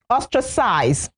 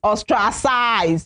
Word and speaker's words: ostracize: Ostracize. What you hear a lot of times is ostracize. It's ostracized. So the stress is on the first syllable.